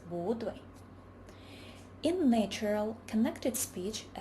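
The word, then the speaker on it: 不对: When bu is followed by a syllable in the first tone, it changes into the second tone, bu. For example, bu dui becomes bu dui.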